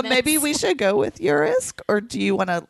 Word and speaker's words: Urisk: It's spelled U-R-I-S-K, and I've heard it two ways. Urisk and Urisk. I read it as like urethra.